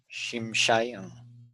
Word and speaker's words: Shimshai: Shimshai. 2 syllables. 2 syllables. Both closed.